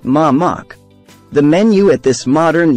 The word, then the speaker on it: Mamak: In Southeast Asia, the term Mamek means food stall or street vendor and is pronounced Mamak.